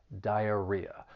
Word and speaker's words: diarrhea: is spelled for pronunciation the word has four syllables the stress is on that third syllable diarrhea but really I just